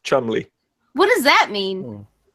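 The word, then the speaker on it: Cholmondeley: a very very strange English name but it's pronounced Chumley what does that mean it's a name it's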